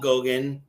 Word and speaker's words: Gogan: Today, I've got Gogan. Did I pronounce that right? You nailed it.